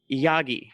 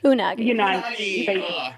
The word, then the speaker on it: Unagi: The Yagi. Am I saying that right? Unagi.